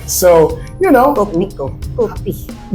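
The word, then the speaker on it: Kopiko: Copico. Did I say it wrong? Copico. Copico. Copico. I gotta do my lips like you. Copico. Okay, Copico is what I like to drink. I just say Capico.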